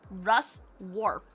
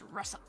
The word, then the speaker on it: Ruswarp: Russer. It's Russ Warp. Ruswarp, but it's Russer.